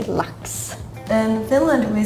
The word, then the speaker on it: lax: Lax. Lax. Yeah, they say it more like A, and you kind of say it like a U.